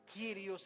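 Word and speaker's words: κύριος: Este dueño que la palabra en griego para traducirla en nuestro español se pronuncia quirios en griego, que pronunciación en nuestro español sería amo, señor, soberano, Cristo, dueño.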